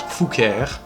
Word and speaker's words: Fouqueure: Anyway, it's pronounced Fouquier.